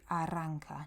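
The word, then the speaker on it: arranca: it won't start um this Double R here is a kind of a rolling R so it's a if you can practice that a little bit you could say no aranka uh they'll understand completely what you mean but specifically it should be aranka noao my motorbik won't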